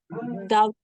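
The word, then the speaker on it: daughter: sama ini hilang juga dater dater dater Oh dater g-nya hilang ya gh-nya hilang Oh bilang jadi da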